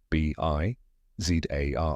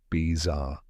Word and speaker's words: bizarre: b in honeybee B Zar this is the stressed part of the word it rhymes with car or Star say it Zar now put it together bizar one more time a